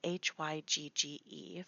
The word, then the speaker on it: hygge: It's spelled Hygge for those of you who have not seen it in writing.